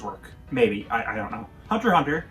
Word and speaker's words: Hunter x Hunter: Hunter x Hunter, if you pronounce the X, I'll gut you like a fishy, is a show that goes all over the place.